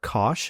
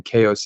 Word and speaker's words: Koch: With me today, I have Koch. I think that's how you pronounce it, right? Or no? Cook, cook, Cook.